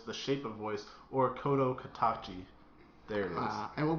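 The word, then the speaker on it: 聲の形: Okay, so to get it correct, it's actually, it can go by A Silent Voice, The Shape of Voice, or Kodo Katachi.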